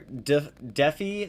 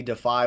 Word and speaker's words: Defi: They are Defi. Some people pronounce it Defi, Defy, whatever you want to call it.